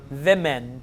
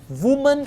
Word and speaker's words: women: So the answer is women. W-O-M-E-N, plural. Woman is singular, women is plural. Whenever they pronounce it as women, it's plural. Woman, singular.